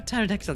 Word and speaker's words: pterodactyl: Why can't you hear a pterodactyl going to the bathroom? Cuz the P is silent.